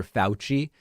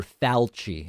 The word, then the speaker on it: Fauci: all these right Wingers instead of saying Dr fauci they say Dr falchi I I just why can't they just pronounce things the way they are uh so Marjorie Taylor